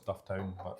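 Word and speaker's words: Dufftown: As soon as I said Dton, I thought say no. It's Duff Town.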